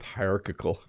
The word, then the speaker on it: hierarchical: So I have finally learned how to say hierarchy, and I still struggle with hierarchical. Yes, those are both very different. Let me make sure I'm pronouncing the second one right.